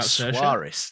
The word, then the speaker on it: Saoirse: Saoirse. Oh, Suarez.